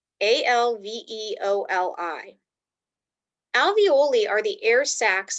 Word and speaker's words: alveoli: let's start with the second one this is pronounced alveoli a-l-v-e-o-l-i alveoli are the air sacs in your lungs